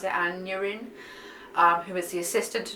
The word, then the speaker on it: Aneurin: Malmstrom's anatomy classes, and there he meets Aneurin. I'm pretty sure that's how you pronounce it, Aneurin, who is the assistant to Dr.